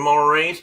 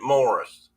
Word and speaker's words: Maurice: And I always called him Maurice, but I looked up something today, and it was saying that they actually pronounced it Morris.